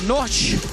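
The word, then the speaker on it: Knoch: And that's Daniel Noche. I was having a joke with him about his last name. K-N-O-C-H. You pronounce it. Noche.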